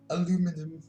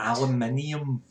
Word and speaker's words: aluminum: Aluminum. Aluminum. I love it. I love hearing Americans say aluminum. It sounds so cute. Aluminium.